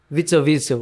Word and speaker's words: Witzel: E a gente tava falando muito sobre aquele que o nosso amigo Ricardo Corrêa Como é o não nome consegue dele, pronunciar o nome. Witzel.